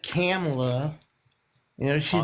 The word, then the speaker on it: Kamala: It's Kamala, sir.